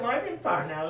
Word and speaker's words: Martin Parnell: Martin Parnell, I hope I'm pronouncing your name yes, right.